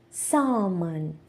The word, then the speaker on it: salmon: Bomb salmon.